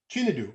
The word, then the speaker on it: Chinedu: I was putting the emphasis on the wrong vowel. No, like Chinedu. in our dialects, it's a different meaning if you don't sound correctly. You know what I mean? Yeah. So So if you say it in another tone, it means a different thing entirely, and it can be insulting.